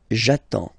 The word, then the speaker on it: attends: So the first form will be j'attends, j'attends, okay? You get D and S, well, basically you don't pronounce them, okay? And then you get only the sound attends, nasal here, en, j'attends, okay?